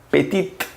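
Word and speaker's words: petite: masculino se pronuncia piti y en femenino pettitte a esta la gran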